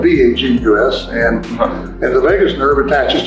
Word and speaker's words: vagus: And so a practice of yoga meditation stimulates our vagus nerve, that is pronounced like Las Vegas, but it's spelled V-A-G-U-S, and the vagus nerve